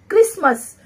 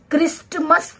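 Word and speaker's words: Christmas: क क्रिसमस, हम क्रिस्टमस तो नहीं पढ़ते हैं, वो हमारा प्रोनाउंसिएशन गलत होगा, आप इसे क्रिसमस पढ़ेंगे, क्रिसमस, तो इसमें भी हमारा टी साइलेंट।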